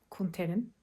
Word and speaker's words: Kunter: siyahların öncüsü olan adam kunterin Kunter diye okunuyormuş arkadaşlar Evet ben yani öle yazılınca Canter diye düşündüm ama bunu sadece ben